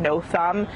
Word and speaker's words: Nothem: thumb to remind people, how to pronounce his name, no thumb, how in the middle